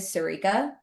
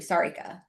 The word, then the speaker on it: Sarika: I know this, but like my name is Sirica. That's cuz I've introduced myself in a very American way. It's pronouncing it is actually Sarika, but I've been so